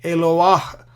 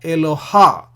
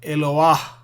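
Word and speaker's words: אֱלוֹהַּ: just to the left so that you pronounce the patach first and then the He. So you say Eloah, not Eloha, but Eloah.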